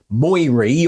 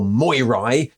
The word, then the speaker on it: Moirae: comments to complain that I'm not pronouncing it moiry or moirai well that's because I think the whole thing is named after the mo effect Mo patterns are a